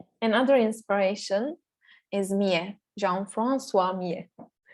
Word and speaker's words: Millet: Another inspiration is Millet, Jean-François Millet. if we like to pronounce it like a French.